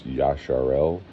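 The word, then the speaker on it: ישראל: of the Hebraic movement, it's Yasharel, which there's no hey there. There's no H to make the sound Yah.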